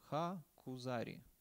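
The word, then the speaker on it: הכוזרי: книга ха кузар кузар Правильно так будет с ударением ха кузар ха ха ха кузар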